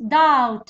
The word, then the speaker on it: doubt: w yes silent letter. next doubt ال b silent.